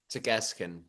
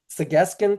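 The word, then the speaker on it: Tsq'escen: So I'm going to ask you to pronounce that properly so I don't mispronounce it, Julian. Segeskin. Segeskin, thank you.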